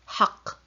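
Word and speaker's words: حق: But when you hear it, you don't hear it doubled, haq. Only one qa sound.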